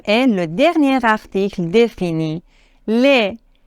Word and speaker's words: les: le dernier article défini les l e s les ne prononcez pas le S on n'est pas laisse